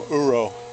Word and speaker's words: uro: a scar here but that can just become uro it will heal over sooner or later but uro which is spelled Ur o is the Japanese term for